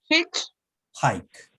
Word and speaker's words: hitchhike: Ay, profe, a mí me sigue costando así como pronunciar hacer dedo. Hitch, divídela en dos, Daniela, mira, repite. Hitch, Hitch, hike.